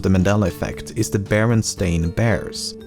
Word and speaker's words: Berenstain: Thirdly, the son of the creators has said that barely anyone pronounced it correctly when he was growing up and he was most frequently called Baronstein or Bernstein.